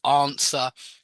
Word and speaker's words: answer: very often when you've got a W as the second letter or third letter, answer is the same. A lot of people mispronounce this word and pronounce the W, but it doesn't have Mhm. one in there when we say it. It's answer, sword.